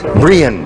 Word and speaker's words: Brianne: Brianne, yes. Yeah, it's a lovely. It's spelled B-R-I-A-N-N-E.